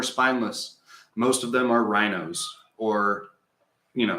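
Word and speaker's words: RINO: most of them are rhinos or you know it's spelled r-i-n-o republican in name only rhino i mean just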